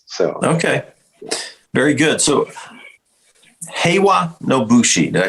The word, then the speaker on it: Heiwa no Bushi: So Heiwa no Bushi.